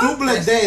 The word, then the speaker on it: Doubleday: It's Doubleday. What? Doubleday, that's how you say it.